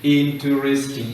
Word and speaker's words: interesting: Letter E, which is silent, must be written interesting, interesting. We read INTR, but we skip this much as we write it. So in reading, interesting. In writing, interesting.